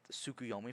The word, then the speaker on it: Tsukuyomi: The T is silent in tsunami. Yeah, T silent in tsunami. You just kind of have to. Same with Tsukuyomi for any Naruto listener.